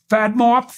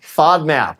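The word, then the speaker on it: FODMAP: called um there's one fad mop f is that right F diet fod map yeah fod map fod fod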